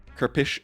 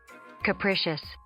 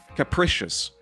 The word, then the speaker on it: capricious: I'm already your blessings have been sloppy and capish capric capish. I know what this means. I just need the pronunciation. Capricious. Capricious.